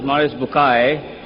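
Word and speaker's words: Maurice Bucaille: and a scholar of Quran Dr moris buk pronounced as moris bukai am I right Dr matter okay uh he's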